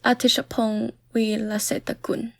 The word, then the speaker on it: Apichatpong Weerasethakul: I have trouble pronouncing this, but maybe our guest can help us with the pronunciation. Yeah, his name is Apichatpong Weerasethakul.